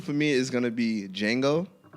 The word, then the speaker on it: Django: me is gonna be Django and the reason why the reason why I have jingle because D is silent alright so cuz